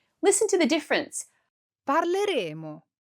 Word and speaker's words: parleremo: In the future, we use one M and we use two M's for the conditional. Listen to the difference. Parleremo.